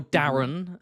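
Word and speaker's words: Daeron: Um, or Darren as George Aman pronounces it because he pronounc it. He creates he creates amazing fancy names and then ruins them with his own pronunciation.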